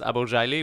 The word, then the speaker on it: Abourjeily: it properly for us my name is pronounced eyeball shyly which is a Lebanese name however I'm German and